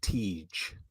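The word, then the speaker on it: Tij: And then Aginla's son, it's pronounced Tej.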